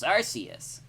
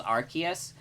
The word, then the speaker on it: Arceus: Also, I do know that the official pronunciation is Arceus, but I consider that a retcon. It was definitely supposed to be Arceus until they realized that Arce is kind of a rude word.